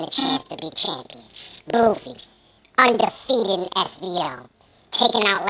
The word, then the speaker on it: BLUV: But I did my research and found you pronounce it BLUV. So your name should have an umlaut.